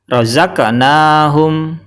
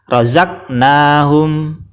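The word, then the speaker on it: رَزَقْنَاهُمْ: yaitu qf yang pertama cara bacanya yang benar adalah rozaqnahum rozaqnaahum jadi qalqalahnya berupa huruf qf disukun dan cara bacanya dipantulkan rozaqnahum rozaqnahum cara baca yang salah adalah rqahum salah karena huruf Qalqalah tidak dipantulkan Kemudian yang kedua cara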